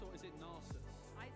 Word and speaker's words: Nasus: Yeah, is it Nasus or is it Narsus? I say Narsus. I say Nasus. I usually pronounce things a little bit wrongly, so.